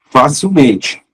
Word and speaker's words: facilmente: Só que a sílaba tônica de facilmente é o men. Facilmente, sim?